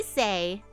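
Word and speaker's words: Sei: name sweetie call me say all right say I'm say say yes yes okay so it is pronounced say okay say say yes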